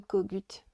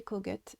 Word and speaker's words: Kogut: Alors oui, je sais, dans la vidéo précédente, j'ai j'ai prononcé son, son nom, j'ai dit Kogut. Voilà, c'est mon accent british américain. Bon, j'ai bien compris qu'il s'agissait de le prononcer Kogut et pas Kogut.